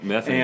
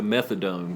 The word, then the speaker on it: Methany: Mission, or Methany. Methany. And thank you for pronouncing it correctly too. A lot of people don't get Methany right. They give it the wrong pronunciation. I've even had people call it Mission to Methadone, which it is not.